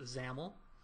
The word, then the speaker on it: XAML: created this this file this xaml file which is pronounced zaml and the zaml file